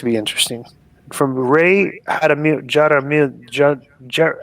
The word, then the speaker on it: Jaramillo: interesting from ray adam jaramillo ger how would you pronounce this j-a-r-a-m-i-l-l-o yada miyo jaramillo jaramillo yeah the subject is